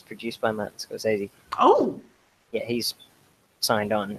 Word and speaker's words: Scorsese: How do you pronounce Martin Scorsese?